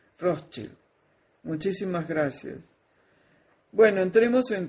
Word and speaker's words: Rothschild: Gracias también al suscriptor que me escribió y corrigió mi pronunciación cuando yo leo Rothschild. Yo decía Rothschild y él me dijo que se dice Rothschild.